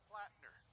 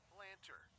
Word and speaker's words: Plattner: Like this one glitch where Sergeant Plattner keeps getting pronounced Planter.